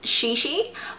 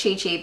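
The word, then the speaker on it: ChiChi: Now this is actually pronounced Shishi, but I have always pronounced it Chi Chi because that's how I've just always seen it.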